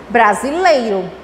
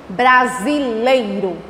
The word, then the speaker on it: brasileiro: Em seguida, brasileiro. Olha a pronúncia. Brasileiro. O lei é junto. Eu não abri separadamente. Lei. Brasileiro. Leiro.